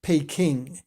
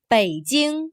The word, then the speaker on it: Beijing: and present capital city we used to call it pay King Beijing is also one of the